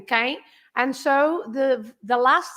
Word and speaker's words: quem: Because when the M is at the end, you don't pronounce that as an M. The M is there just to make the nasal sound of the vowel. So that is an E, right, in quem.